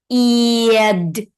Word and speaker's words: เกียจ: So when we pronounce this one, it's got to be giad. But I will write it in T sound, okay? Giad. And don't forget if the vowel together with the date syllable, yeah, it will become low tone automatically. So this one is low tone. It is giad.